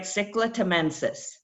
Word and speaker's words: Cichla temensis: Cichla temensis.